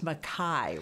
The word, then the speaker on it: MacKay: So I want to make sure I have your last name pronounced correctly. It's MacKay, right?